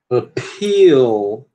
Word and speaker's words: appeal: Appeal, ó, appeal. Por que a gente aspirou aqui? Porque a sílaba tônica só tem uma sílaba, né?